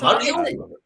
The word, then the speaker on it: Mario: Italians from Brooklyn, dictate to us how to pronounce my friend's name. The fuck out of here! It's Mario. yeah. Hey, So Mario.